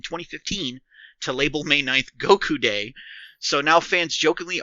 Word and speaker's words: Goku: Back in Japan, though, the word for 5 is pronounced as go, and 9 is Q, which is sometimes lazily, or by children, pronounced ku. Thus, May 9th is Gokyu, or Goku.